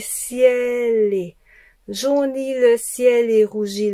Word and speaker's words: ciel et: Jaunit le ciel et rougit ciel et ciel-les. Donc, l'enchaînement, c'est au lieu de dire ciel et, on dit ciel-les.